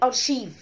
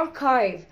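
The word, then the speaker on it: archive: طيب عشان كده بقى عشان كده كلمة أركايف بتتنطق أرشيف تمام، ليه بقى؟ علشان الإنجليش السي اتش بتتنطق تش تش، بس هي للأسف الكلمة دي أصلا مش أجنبية، هي الكلمة دي يونانية تمام، وهي دخيلة على الثقافة الأجنبية، فهي الكلمة دي اسمها أركايف أركايف أركايف تمام، ما اسمهاش أرشيف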